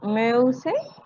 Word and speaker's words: Mäuse: Profe, ¿cómo se pronuncia para plural? Mäuse.